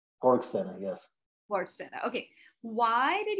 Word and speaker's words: Borgstena: You pronounce it Borgstena, right? Borgstena, yes.